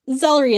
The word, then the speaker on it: Zellery: It rhymes with celery. Gordy laughs. Zellery is delightful.